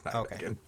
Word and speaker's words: Nijmegen: The EFF maintained a just-for-show military academy in Nijmegen. Nijmegen? I looked it up. It's Nijmegen. Okay, I was about to say, I don't want to pronounce that wrong.